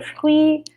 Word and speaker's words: fruits: Notice that pronunciation there, the R. On achète des fruits.